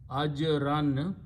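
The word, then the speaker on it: أجرا: Ajran, when you stop, you pronounce ajra.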